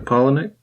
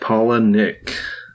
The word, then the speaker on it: Palahniuk: Our book this week is Survivor by Chuck Palahniuk. That's how you say that. That is how you say that, Palahniuk.